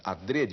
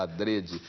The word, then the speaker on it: adrede: adrede a pronúncia fechada adrede né que quer dizer de propósito feito de propósito algun alguns professores falam Adre né É muita gente fala ADR mas o Aurélio recomenda ADR o que não quer